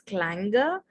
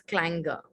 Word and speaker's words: clanger: this is pronounced as clanger we don't pronounce the r okay so it's not clanger it's clanger okay without the r